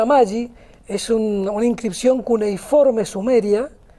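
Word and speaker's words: ama-gi: Se pronuncia Amagi, es una inscripción cuneiforme sumeria, cuyo significado es la primera de la humanidad, significa libertad.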